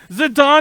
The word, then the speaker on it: Zidane: Zidane is the way you officially pronounce his name.